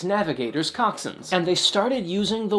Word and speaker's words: coxswain: to just Coxon and yes it is pronounced Coxon even though it is spelled coxswain and so that word Coxon eventually just became a